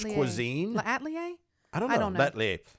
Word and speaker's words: L'Atelier: L'Atelier. It's La the French. Atelier Bistro. Ooh, the bistro. La Atelier. It was French cuisine. L'Atelier? I don't know. L'Atelier.